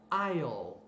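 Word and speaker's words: aisle: que faz toda a diferença a palavra se pronuncia ion isso é o corredor por exemplo o corredor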